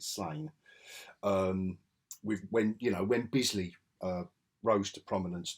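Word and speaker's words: Sláine: Slain from 2000 AD, or Slain, however you pronounce that character. I pronounce it Slain.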